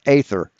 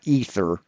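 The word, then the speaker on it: aether: ether because it's pronounced because it's pronounced ather not ether ather a e t h e r and AE is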